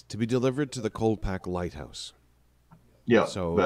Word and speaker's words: Colpack: now coal pack is c-o-l-p-a-c-k um there's a d in there it's cold pack okay but people were